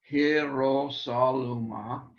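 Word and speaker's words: Hierosolyma: But notice it's not a diphthong. Hierosolima, because it's a Semitic name.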